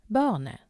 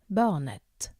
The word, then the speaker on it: barnet: Et barn, barnet, the child. Pay attention to the pronunciation here. It's barne, not barnet. The T is silent at the end.